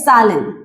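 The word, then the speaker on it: zählen: इसका एक्सप्लेनेशन है, जर्मन में एक वर्ड है, इस वर्ड को प्रोनाउंस किया जाता है सालन। प्रोनाउंसिएशन है सालन।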